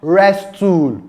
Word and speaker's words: wrestle: Wrestle, not wrestle. We have the word, can you pronounce this?